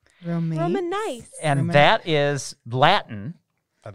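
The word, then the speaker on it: romanice: there's another word and this one is spelled r-o-m-a-n-i-c-e roman nice and that is latin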